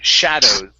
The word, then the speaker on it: shadows: Shadows. Shadow. Okay, with an S. Shadows. Shadow. Okay, so you're stopping right here at O and not pronouncing the S at the very end of the word.